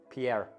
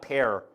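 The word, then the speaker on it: Benoît Paire: fan rainier tennis is benoit pierre that's how it's properly pronounced pierre not pear pierre i tried natural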